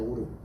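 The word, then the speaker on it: אור: 오르. 발음이 오르예요.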